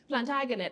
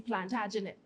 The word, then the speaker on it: Plantagenet: So we can't say Plantagenet when it's supposed to be Plantagenet.